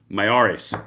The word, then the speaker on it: Miyares: Hold on, got to say his name right. Miyares, there we go.